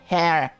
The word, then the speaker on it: heir: To defeat their schemes, you must secure an heir. Heir. Alright, right, I remember. You don't pronounce the H.